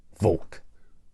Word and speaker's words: Volk: and and say my last name out loud vul simple right v o l k right over the years I've had people spell it b o l k v o k